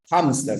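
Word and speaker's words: hámster: inglés a ver continuemos la H habla Es que la h a ve sí tiene un sonido ya sobre todo con palabras que están vinculadas al inglés o al alemán no como en Hitler o como en hamster no suena como una J no hamster no suena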